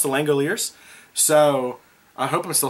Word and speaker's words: Langoliers: Thank you to everybody who gave me the pronunciation, because I couldn't pronounce The Langoliers.